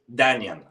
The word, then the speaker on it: Dian: Is that how you pronounce it? Dian or So it's Dian.